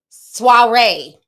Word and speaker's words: soiree: your by the way it's pronounced soiree thank you so much appreciate you love thanks